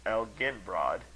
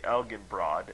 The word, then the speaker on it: Elginbrod: broad Elin broad then Elgin Brad with the soft G and lastly elen broad as you pronounce it now with the hard G this name turned from